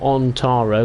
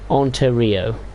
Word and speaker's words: Ontario: subdivision and yes I actually did get the name right of Ontario so not on taro which I previously called